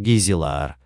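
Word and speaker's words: Gijzelaar: Кеесхонд был назван в честь Корнелиса де Гизелаера (на современном голландском языке произносится как «Гийзелаар»), лидера восстания против Дома Оранских.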